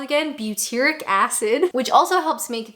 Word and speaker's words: butyric: an acid that I don't know how to pronounce. Butyric acid. And yes, I asked Google. Butyric acid.